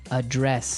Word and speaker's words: address: So, the verb address has the stress the stress on the second syllable.